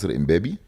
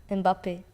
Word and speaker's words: Mbappé: And Mbappé? - Paris Saint-Germain - Okay You know that in Egypt they call Mbappé "Imbabi"?